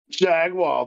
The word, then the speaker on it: Jaguar: you just want to be like jaguar foreign or you could say it like uh say it like Austin Powers I don't even remember how he says it Jag wall baby yeah yeah oh